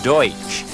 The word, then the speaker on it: Deutsch: they are not Dutch the term Pennsylvania Dutch is a mispronunciation of the word Deutsch which means German they continue to speak